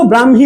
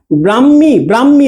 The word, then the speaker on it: ব্রাহ্মী: কিন্তু উচ্চারণে কি হয়ে যাবে? ম প্লাস হ হবে, ঠিক আছে?